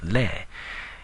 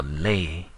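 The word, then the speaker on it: လဲ: It's not like bay in Bay Area or lay in lazy. If you can think of how you pronounce glare or stare, like looking intensely at someone, and switch it with the sound b and l, then you'll get the way the Burmese would pronounce the word be and le.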